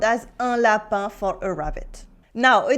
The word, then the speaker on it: lapin: IN as un for lapin, rabbit.